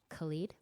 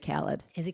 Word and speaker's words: Khaled: in my case people don't know how to pronounce and it gets more awkward although DJ Khalid yeah okay good job hey hissy has me no I actually I think it's DJ Khaled it is Kelly it's Kelly well we're both